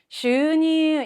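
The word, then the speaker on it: 収入: 슈니 양쪽에 장음 발음.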